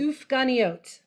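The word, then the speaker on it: סופגניות: Give us the Hebrew for it because I'm going to mispronounce it. Sufganiot.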